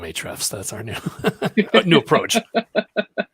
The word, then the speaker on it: Ahrefs: their their company name i think we determined it was ahrefs is that right john h the folks at hrefs they love us and so we call them ahrefs that's our new new